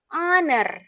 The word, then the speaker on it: honor: H-nya tidak diucapkan, tidak berbunyi. Bukan an hour, tapi an hour ya. Kalau yang bawah an honor. An honor. Honor.